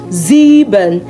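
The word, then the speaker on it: sieben: Zebon.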